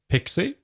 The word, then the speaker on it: PKCE: query string and then use p k c e pronounced pixie and what p k